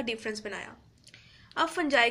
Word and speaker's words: fungi: तो इनकी बुनियाद पर ये सोचा गया कि किंगडम एक बननी चाहिए फंजाई के लिए भी। फंजाई की प्रोनाउंसिएशन फंगी भी हो सकती है, मगर हम फंजाई रखेंगे।